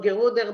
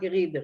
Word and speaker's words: Gerieder: have gerida rhyme with vida. That's what Vinkl does, of course. Yeah, he's doing the not geruder but gerider.